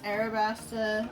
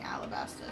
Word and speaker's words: Arabasta: we know it's Arabasta or Arabasta, but yeah. we're just so used to saying Alabasta, so If we say it wrong, we're really sorry.